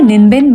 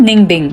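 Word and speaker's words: Ninh Bình: नाम है निनबिन but pronounce होता है निंगबिंग.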